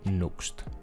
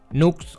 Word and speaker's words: Nuxt: ser el framework de Nuxt. Nuxt o Nuxt, como queráis pronunciarlo, escrito Nuxt, nos va a permitir expandir las opciones de Vue diferenciándose principalmente en 3 pilares.